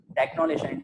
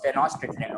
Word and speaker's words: Tenochtitlan: Technolation is not the right. This is not the right pronunciation you're saying right now, Rayan. It was Tenochtitlan.